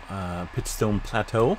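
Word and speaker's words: Pitchstone Plateau: this here is from Yellowstone National Park near pit stone Plateau please that's how you pronounce it and you can see it's just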